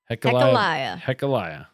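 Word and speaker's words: Hachaliah: We're going to talk about, and I wrote this out phonetically, Hecaliah Bailey. Hecaliah.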